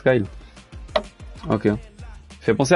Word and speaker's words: Guile: On prononce Guile.